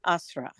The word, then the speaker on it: Asra: So, Asra, And it's I, also, my name is pronounced Asra.